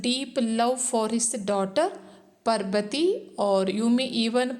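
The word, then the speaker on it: Parbati: a t i to be pronounced you may pronounce it as Parvati Parvati Parvati Parvati whatever so here also the writer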